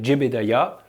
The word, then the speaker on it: Jebediah: Bon, MechJeb pour Mechanical Jebediah, oui, c'est comme ça qu'on prononce Jebedia en anglais, c'est tout simplement, mais en toute complexité, un pilote automatique très, très complet.